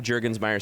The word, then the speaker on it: Jurgensmeyer: It's Jet like the plane, Jurgens as in the hand lotion, and then Meyer.